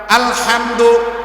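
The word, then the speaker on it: الحمد: আলহামদু, এখানে বড় হা, যে হাটা আমার গলা থেকে আসতে হবে, যে হাটা আমার উচ্চারণ করতে কোথায় থেকে? গলা থেকে উচ্চারণ করতে হবে।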